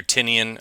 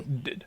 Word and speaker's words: Tynion: About 90% of the world out there Do, pronounces it either Tinian or Tynian, but it's well, Tynan.